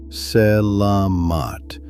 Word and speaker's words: Selamat: After dark malam on selat itself, the slip is stressing the first syllable like an English speaker would. It is flatter than that. Selamat with the middle syllable carrying the weight and every vowel short.